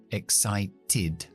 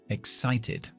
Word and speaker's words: excited: t o después de T hacemos siempre it excited excited and hemos dicho que se quedan otra vez